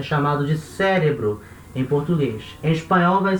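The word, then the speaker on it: cerebro: a centro tá e a sílaba tônica dessa palavra é a segunda da outra em português a sílaba tônica é a primeira cérebro espanhol a sílaba tônica é a segunda cérebro tá não vai falar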